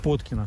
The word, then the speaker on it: Поткино: Мы просто едем, гадая, на какой слог, второй или первый, следует сделать ударение. Нет, ну, а там что такое «под кино» или « под кино»? Нет, вы не поняли. На первой или последней букве «о»? С первого. Поткино.